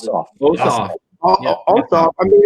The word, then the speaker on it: Ossoff: Even now, if you look at the this is between Purdue and what's how you pronounce it? Ossoff.